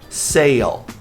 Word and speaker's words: sale: Sale. Tem que pronunciar o L. Se senão vai virar se não sale.